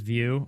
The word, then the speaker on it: Vue: Is it supposed to be Vue? But Vue E. And now you you're on Alpine.js. Okay. Nyx, you hate doing webdev, but it sure pays the bills. That's what it sounds like. Maybe I'm in the wrong Maybe I'm in the wrong business. It is view.